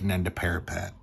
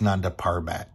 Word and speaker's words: Nanda Parbat: is planning to attack nand parapet like a final assault I'm sorry I've been saying it wrong the all the time it's just Nanda parbat so vashu fills in